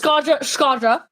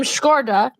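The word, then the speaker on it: Shkodra: When it comes to Skadra, I love them. At first, I pronounced the name Skorda, and I was like, I butchered that for a straight up month.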